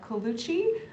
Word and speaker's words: Colucci: We also have Michael Colucci. And did I pronounce that correctly?